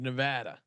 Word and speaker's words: Nevada: The pronunciation of Nevada. Yeah, you got to get Nevada. The ad in there.